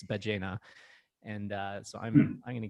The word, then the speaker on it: Ballena: I just started Spanish lessons today, and I realized I've been pronouncing Ballena incorrectly as Ballena, and it's Ballena.